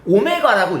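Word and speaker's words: ω: 오메가라고 읽어요. 어쨌든 그냥 뭐 W라 생각해도 돼.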